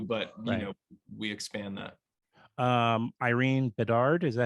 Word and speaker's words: Irene Bedard: Irene Bedard, is that how you say her name?